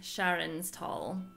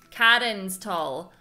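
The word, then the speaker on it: Charon's Toll: As the story progresses, new weapons and items will become available at the Hideaway's trading post, Sharon's Tall. Karen's Tall. But it's spelled Sharon.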